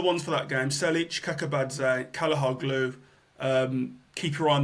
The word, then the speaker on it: Kakabadze: So there's a Georgian right back called Kakabadze. I know I've pronounced that wrong, but it's something like Kakabadze.